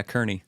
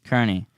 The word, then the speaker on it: Kearney: Yes, yeah, Kearney. Kearney, my pastor, to talk about Rule 11 of the 12 Rules for Life book by Jordan Peterson.